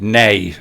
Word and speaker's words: neigh: And you said nay. Some people wouldn't have got that, but you pronounced it properly.